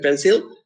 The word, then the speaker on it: pencil: And the pencil, it receives the accent in the first syllable, pencil.